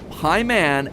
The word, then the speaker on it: Paimon: All three of them, Bael, Pie Man, and Ba-Lam, are phonetic ways of pronouncing the names Bael, Paimon, and Balaam, three king demons from the Ars Goetia.